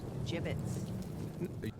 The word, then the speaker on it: gibbets: look avery had some gibbots left over gibbets what it's pronounced gibbets gibbets basha bashar jibits wait